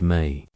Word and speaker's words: me: Ray's conflict was with the word me, pronounced may.